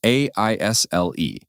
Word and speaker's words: aisle: And that brings us to our next keyword, aisle. It's spelled A-I-S-L-E, but the S is silent.